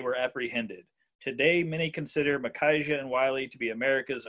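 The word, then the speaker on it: Micajah: how to pronounce it m-i-c-a-j-a-h i think it's makaija if i'm not mistaken thank god his nickname is big so that makes my life a little bit easier but makaija will say big harp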